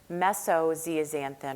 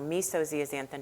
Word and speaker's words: meso-zeaxanthin: And then we're going to spend just a couple of minutes on Meso-zeaxanthin or Meso-zeaxanthin, depending upon your pronunciation preference, because that's another area of controversy right now.